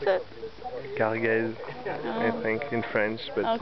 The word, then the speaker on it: Cargèse: With my awful pronunciation of Oh, this is not really French. It's a French-Italian thing. So Cargèse, Cargèse, or whatever.